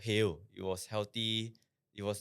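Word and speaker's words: Hale: And uh basically he was already running this restaurant called Hail. It was healthy. It was this healthy burger brand. How do you spell that? H A L E. Hail.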